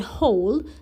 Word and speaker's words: whole: for in the word whole wh sounds like h where the w is silent and the sound that you can hear is h.